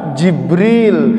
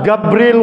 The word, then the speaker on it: Jibril: harus kita baca Ibrahim, Jibril harus kita baca Jibril, Mikail harus kita baca Mikail. Jangan sampai baca Al-Quran Jibril wa Mikala itu dibaca Gabriel wa Mikal.